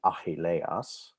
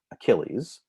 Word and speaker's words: Achilles: If you look inferior to it, here's the infamous Achilles tendon, named after Achilles, or the real pronunciation would be Achilleas. Achilleas is the appropriate name in Greek, but we call it Achilles.